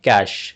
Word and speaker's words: cache: Now, first of all, the spelling is C A C H E and pronunciation you can say it like cash just like the cash or money, right? So, we say it cash.